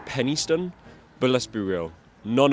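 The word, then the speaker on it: Penistone: Now, this is actually supposed to be pronounced Pennystone, but let's be real, none of us at all will be calling it that.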